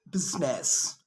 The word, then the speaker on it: business: the eye is not usually silent it's usually pronounced except in the word business okay okay now i know you know this